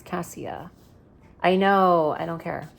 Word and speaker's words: Cassia: so basically I know her name is supposed to be pronounced casha the author said but I I prefer Casia I don't know why